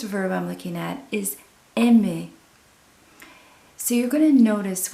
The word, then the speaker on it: aime: Again, you're not going to hear a difference in pronunciation.